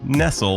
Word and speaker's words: Nestle: Nestle, yes, her name is pronounced Nestle like the verb and not like the food company and I talk about a life in food studies and food politics. Dr. Marian Nestle, who has asked me